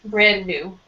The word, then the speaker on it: brand new: So the D you will not say so much. Brand new.